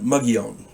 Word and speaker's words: Mogollon: After I'd parted company with Doug and Dean, I ended up in the Arizona Territory near the Mogollon Rim. It's spelled Mogollon, pronounced Mogollon.